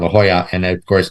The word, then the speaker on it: La Jolla: La Jolla. Jolla. Yes, LL together is a Y sound. La Jolla, and of course J in Spanish is a H sound.